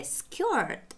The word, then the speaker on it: skirt: A skirt – юбка. Ir, когда мы видим ir под ударением, мы его должны прочитать как ё, но таким загнутым язычком получается r, r, short. Смотрите, рубашка, short, юбка, к, skirt.